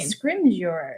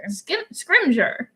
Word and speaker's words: Scrimgeour: Scrimgeour. Scrimgeour.